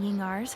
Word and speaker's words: Ying'er: While we're on the subject, have you never heard anyone mention Yingar's homemade perfume? So that's how you pronounce her name.